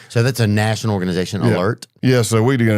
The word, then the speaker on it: ALERRT: I'm an instructor with Alert. It's spelled with two R's, ALERRT.